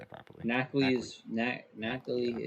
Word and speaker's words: Nacli: Nacli Nacli.